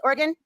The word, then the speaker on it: Oregon: 1234 in Oregon. Hey, did I say it right this time, guys? Oregon?